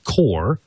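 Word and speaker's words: QOR: Plus the rack mount portion, which is called the Core, and that's spelled Q-O-R.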